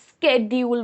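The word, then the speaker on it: schedule: सो and American English में इससे स्केड्यूल बोलते हैं. Yes guys, स्केड्यूल American English का प्रोनाउंसिएशन है.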